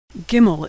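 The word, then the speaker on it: גימל: fluent in Hebrew bet gimel is pronounced G as in good never like in general always like in good like most letters it's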